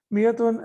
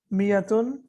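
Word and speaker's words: مائة: Miyatun and alfun are always used as mudaf. Okay. And we can see here that miyatun has an extra alif here. It's an added alif, but it is not pronounced.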